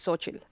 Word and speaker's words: Xochitl: I mean, I'm gonna be saying it as Sochi, but like technically that's the full the way you say it is Xochitl. Okay. So Xochitl So daiquiri. yeah, it's just pronounced like so chill, so chill daiquiri.